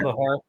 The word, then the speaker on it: Bachar: Bahar. You got it. And Bahar is spelled B A C H A R.